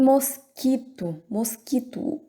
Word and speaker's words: mosquito: Dengue e mosquito, o U também não é pronunciado, tá certo?